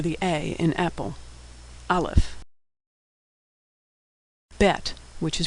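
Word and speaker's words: בית: a in Apple olive bette which is pronounced B as in boy or v as in victory native speakers know which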